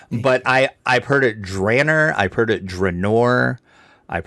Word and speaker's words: Drannor: sorry uh and again that's a contested thing too on how you say it oh yeah drainer just doesn't look right from the way it SP right I see drer because that's how Ed Greenwood says it and he's the one